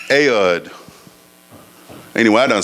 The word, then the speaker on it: Ehud: the name of ehud ehud i pronounced ayod anyway i don't spell